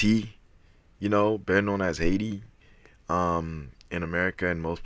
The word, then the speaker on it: Haiti: you know he's from IT you know better known as Haiti um in America in most places right we don't pronounce the H so it's I to us right a y I ti that's pretty much how